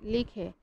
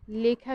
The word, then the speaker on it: লেখা: আমরা এটার উচ্চারণ বলছি লেখা, এটার উচ্চারণ লেখা, এটা সংবৃত উচ্চারণ, এ ধ্বনির স্বাভাবিক উচ্চারণ। আমরা এখানে কেউ যদি বলি যে লেখা, সেটা ভুল উচ্চারণ, সেটা হবে কি? সেটা হবে লেখা।